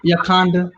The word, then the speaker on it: Yakanda: You can call me Yakanda. That rhymes with Wakanda. Okay. So Yakanda, that's cool.